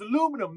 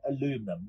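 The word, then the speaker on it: aluminium: bed or what I can cut John it's pronounced aluminum man I'm gonna get a coffee okay I to my North American friends I'm sorry I meant aluminum now let's get cut in now this is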